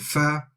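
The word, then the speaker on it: ف: So slight difference between F and Fa. If you just master that as you go along. So Fa, remember to touch the teeth at the wet part of the lip.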